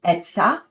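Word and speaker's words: עצה: It is etzah, is how you say it in Hebrew.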